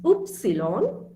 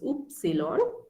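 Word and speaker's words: Ypsilon: way x is x y is oops cylon it's oops cylon and um the alphabet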